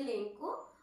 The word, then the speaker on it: Lencho: Okay, so Lencho, you know, Lencho, or some students used to say Lenko, whatever you love to call it, call the name, it is someone's name, but don't incorrect the spelling, just spell it correctly and say whatever you want, Lenko or Lencho.